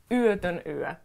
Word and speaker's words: yötön yö: And yötön yö, we have the letter O with those dots on top of it, so it's ö.